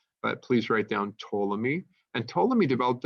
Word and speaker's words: Ptolemy: by the name of Ptolemy they don't pronounce the P but please write down Ptolemy and told him he